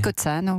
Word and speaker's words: Cozzano: Cozzano, comment est-ce que vous prononcez ? Cozzano, oui.